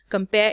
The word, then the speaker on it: compare: can see here compare compare is made up of two syllables come and pair so the first one is unstressed and the second one is stressed stressed means that this